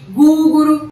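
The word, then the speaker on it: グーグル: E lá no Japão a gente chama de Guguru, Guguru, só pra vocês aí verem como que é a pronúncia.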